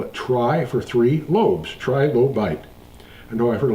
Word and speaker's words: trilobite: why we call it Tri for three loes trilobite I know I've heard a lot of people say trilobit but the proper pronunciation is trilobite this is a completed number